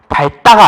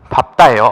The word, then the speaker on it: 밝다: 밥다 같은 경우 발음부터 좀 유의해야 돼요. 밝다가 아니에요. 밥다예요.